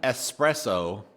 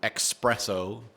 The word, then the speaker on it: espresso: wrong it sounds right just like espresso it makes sense when people pronounce it expresso even though that's wrong which is why